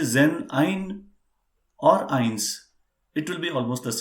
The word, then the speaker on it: eins: say one he will be saying only ions and if it comes as a combination let's